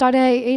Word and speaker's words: Ade: Aid, pronounced Ade, means crown in Yoruba.